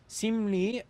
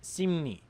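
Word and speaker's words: 심리: This means that simli is pronounced simni, hanla is pronounced halla, chongli is pronounced chongni.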